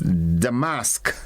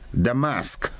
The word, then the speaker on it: damask: it is a noun and that word is damask Dam mask and it is spelled D a m a s k it